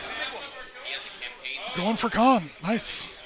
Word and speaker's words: Caen: Going for Caen. Nice. Or Caen, to say it right.